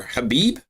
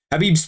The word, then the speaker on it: Khabib: the IR flag um khabib is khabib is the real pronunciation of his name yeah but it's not like well obviously obviously khabib abib wins that fight 100 times out of 100 habib's two two weight divisions